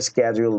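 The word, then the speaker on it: schedule: আমেরিকানরাশিডিউল বলে না। ওরা কি বলে? হল গিয়ে স্কেজুয়াল বলে। তখন এই জিনিসটাকে আমি কি করলাম? সিস্টেমকে জানাইলাম যে তুমি যে সিডিউল প্রোনাউন্স করছো এই জিনিসটা ভুল। এটাকে উচ্চারণ করবে স্কে্যাজুয়াল। ঠিক আছে?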